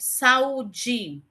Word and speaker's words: saúde: A gente bota sa, aí espaçozinho u, de, que são justamente a e u estão nas sílabas diferentes, tá?